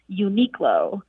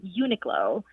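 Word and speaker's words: Uniqlo: across the US and for years I thought the English pronunciation was uniqulo and then I overheard a friend who has a very keen for pronouncing words and she pronounced it slightly differently with Unico and so I went online and found that that second pronunciation is actually the more correct pronunciation but now when I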